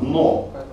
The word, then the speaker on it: дно: «Но» — это такое слово, где «д» и «н» должны произноситься одним движением языка. «Дно».